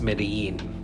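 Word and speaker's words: Medellín: It's spelled Medellin, but it's pronounced Medellin.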